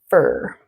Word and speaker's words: for: Fluently instead of for in connected speech, we actually say fur. Rhymes with her, okay?